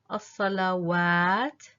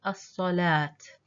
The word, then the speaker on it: الصلاة: So we don't say as-salawat, we say as-salat, as-salat. So the waw is ignored. The alif on top of it replaces it.